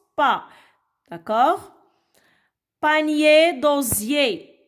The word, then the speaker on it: panier: Panier d'osier. I-E-R se prononce yé.